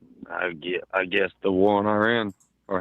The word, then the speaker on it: Iran: It's Iran, by the way. But However you yeah, want to mispronounce it, I could not give a shit.